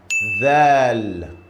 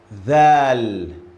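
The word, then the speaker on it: ذال: Thal. Pay attention, guys. This letter, your mouth should go between the front teeth. The. Look at my mouth. The. Thal.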